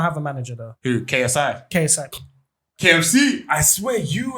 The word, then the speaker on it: KSI: KSI? KSI. KFC? I swear you and your KFC. I didn't say KFC. I said KC. Oh, my KC, bad. yeah. Yeah. Yeah, It's KSI.